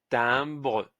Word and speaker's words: timbre: Et IM, c'est 1. Donc, un T avec 1, ça fait tin. Le BR, on l'a vu aussi, c'est bre. Et le E, il se prononce timbre.